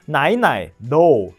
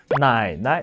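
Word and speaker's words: 奶奶: 할머니 " 에서 두 번째 글자는 중성 적 인 톤 이기 때문 에 첫 번째 글자 를 두 번째 톤 으로 바꿔야 하는 제 3 의 톤 조합이 아닙니다 . 그러니까 , " 나이 나이 ", 제발 그러지 마 . 어떻게 하시는 거 예요 ? " 나이 나이 ", 이렇게 해야 해 .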